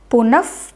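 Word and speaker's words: पुनः: For example, Punaha is there. If I read them like together, punaf, punaha. So that first sound is the upadhmaniyam sound.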